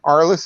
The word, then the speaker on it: ARLI$$: title uh and in all the advertising promotion our list is spelled with two dollar signs instead of s's